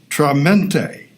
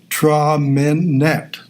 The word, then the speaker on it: Traminette: It's not Tramente, it's Traminette. Traminette.